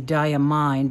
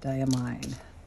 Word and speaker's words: Diamine: been calling it diamine it looks like it might be diamine d-i-a-m-i-n-e so I'm not sure I think that's probably how you pronounce it I will probably